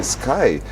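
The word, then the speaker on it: Skai: That's how it's spelled. Sorry, folks. I'm just following instructions. S K A I Sky.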